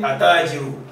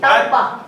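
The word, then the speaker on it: التاجر: You can't say atajiru. Wrong. Atta.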